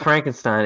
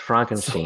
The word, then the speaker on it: Frankenstein: It's Frankenstein. It's not Frankenstein. It's pronounced Frankenstein.